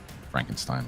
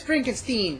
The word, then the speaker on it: Frankenstein: Frankenstein, whatever. No, actually, it is Frankenstein. People just mispronounce it as Frankenstein.